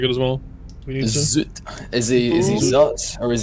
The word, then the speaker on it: Zutt: Well, we've started saying Zoot. So, it's zoot again. I've been saying zot. Okay. Oh, yeah. It looked like a zoot to me. Like a z u tt.